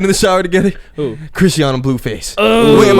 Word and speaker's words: Chrisean: It's like Chris Sean. Chris and then Sean.